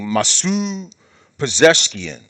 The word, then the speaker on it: Masoud Pezeshkian: And so I think another reason, the sixth reason, is because the current president, how do you pronounce his name? Masoud Pezeshkian, president of Iran, Masoud Pezeshkian, is not really the one in charge.